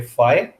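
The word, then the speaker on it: phi: इसको प्रोनाउंस करेंगे फाइ.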